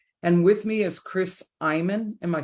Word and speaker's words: Eymann: And with me is Chris Eymann.